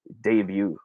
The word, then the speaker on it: debut: you are correct uh the proper way of saying this would be debut all right the word